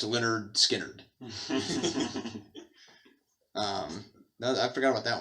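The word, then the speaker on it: Lynyrd Skynyrd: dyno spectrum um and leonard skynyrd pronounced leonard skynyrd um i forgot about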